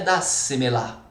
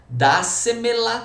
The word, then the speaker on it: dásemela: Dásemela. E teria acento no dá, tudo bem? Repara que a quarta sílaba tônica do final para o início da palavra, ok?